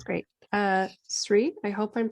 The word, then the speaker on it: Sri: Sri, I hope I'm pronouncing your name correctly.